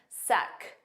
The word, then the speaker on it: sec: Now, make sure you pronounce that C. It's a K sound at the end. Sec.